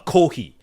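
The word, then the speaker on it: コーヒー: Um so uh the In Japanese, the way you pronounce coffee is uh kohi.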